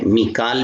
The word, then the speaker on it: میکال: میکائیل کا نام ہے، میکال بھی تلفظ ہے، اس کو میکال بھی پڑھا جاتا ہے، میکائیل بھی پڑھا جاتا ہے.